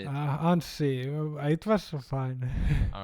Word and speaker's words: Anssi: yeah that's right that's right yeah all right Ani um thank you very much for coming on did I pronounce your name correctly or how to say it uh and see it was fine all right okay thank you